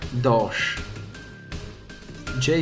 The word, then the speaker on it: Doge: attacco 14 pesa 10 si pronuncia Doh J soffice ma non so